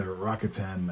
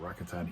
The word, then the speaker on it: Rakuten: actually going back to his original team, the Rakuten, I think that's how you say it, Rakuten Eagles, which is where he started his career in Japan.